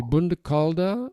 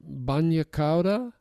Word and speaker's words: bagna cauda: It could be Bagna Cauda or Bagna Cauda. Bagna Cauda.